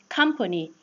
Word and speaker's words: company: Company. Because the letter O receives word stress.